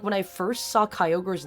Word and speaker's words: Kyogre: I think I might have called Kyogre like Kyogre cuz it had such a weird name. It has such a weird spelling. I mean, of course, like after I figured it out, it was like, "Oh, it's Kyogre." But I think when I first saw its name, I was like, "How the do you say this?"